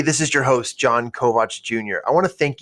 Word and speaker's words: Kovach: And you can find me through social media at Jon Kovach Jr. That's it. JonKovach, And yes, it's spelled Kovach, not Kovich or Kovac.